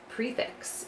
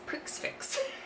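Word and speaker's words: Prix Fixe: This is Prefix, and I would have pronounced this Prixfix.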